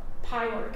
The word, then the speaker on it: Pyork: And they wanted Pauline Pinky Pyork, that's how you pronounce it, Pyork, because they thought that she was the better shortstop.